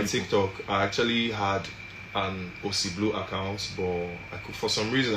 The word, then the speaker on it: Ossy Bleu: Ossy Bleu is spelled OSSYBLEU. I'll take it again. OSSYBLEU. Blue is spelled the French way, not the English way.